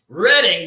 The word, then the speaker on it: Reading: He lives in Reading, but it's spelled reading.